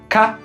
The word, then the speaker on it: 嫁: It's pronounced tia in Mandarin or ka in Japanese.